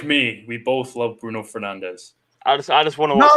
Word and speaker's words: Fernandes: We both love Bruno Fernandes. I just want to watch the game. No, it's not Bruno Fernandes, lads. It's Bruno Fernandes. Yeah, Fernandes. Fernandes is how you pronounce it in Portuguese, but you know what?